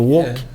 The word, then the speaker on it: woke: Eu tô falando a pronúncia certa, Gabriel? Acho é o woke? É o woke mesmo.